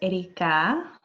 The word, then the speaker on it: Erikaa: are Thank You Serena my name is Erica you do not have to roll your R's and to loves to